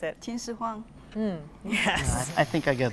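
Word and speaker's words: 秦始皇: The movie Hero was made about him, Qin Shi Huang Ti, or how would you pronounce it? Qin Shi Huang.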